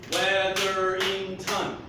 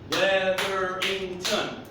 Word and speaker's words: Weatherington: What's my last name? Weatherington. Weatherington. How many syllables? 4.